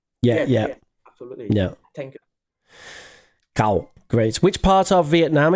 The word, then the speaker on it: Cao: My name's pronounced exactly like the animal's name cow. So Cow. yeah, Yeah. you get it? Yeah, Yes, yeah, yes, absolutely. yeah. Thank you. Cao.